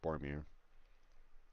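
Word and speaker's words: Boromir: bean rolls as well right up there with bormir or set up uh yeah bormir yeah yeah yeah you said it right anyway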